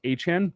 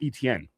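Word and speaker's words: Etienne: Uh they went and signed uh Travis Achan. We got we have to change pronunciation on that. Get that one right. Achan, not Achen. No, no, not not ETN.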